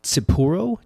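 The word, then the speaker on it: Tsipouro: first distillery in 1856 from a beverage called Tsipuro, T-S-I-P-O-U-R-O. Have you ever heard of that? Yes. It's like You're pronouncing that correctly.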